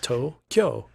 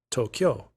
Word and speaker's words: Tokyo: um just yeah like say it like it's two syllables toe kyo kyo that's that i don't know how to say that well it's like q but instead of q you say kyo tokyo tokyo tokyo yes all